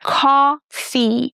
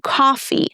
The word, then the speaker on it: coffee: And in the word coffee, we stress the first syllable and the O is pronounced as the aw sound as in hot, right? Coffee. Long e at the end as in she. Coffee.